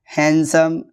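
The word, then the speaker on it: handsome: कुछ वर्ड जहाँ D silent होता है, जैसे वेनसडे, हैंडसम, सैंडविच।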